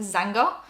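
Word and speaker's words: Xanga: just started posting on i believe it's supposed to be pronounced zanga uh which is a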